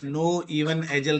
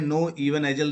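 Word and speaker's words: Knoevenagel: जो कि है हमारी नो इवन एजल रिएक्शन। ठीक है? तो नाम याद कर लो। इसमें के को साइलेंट करके बोलते हैं नो इवन एजल रिएक्शन है।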